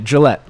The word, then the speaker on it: Gillette: when I tell people I say Gillette like the razor but without the e at the end whenever